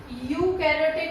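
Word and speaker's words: eukaryotic: जो यू है ईयू, इसमें जो ई है वो साइलेंट है.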